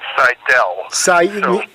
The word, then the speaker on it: Seidel: First of all, just to clarify, we usually pronounce our name Seidel.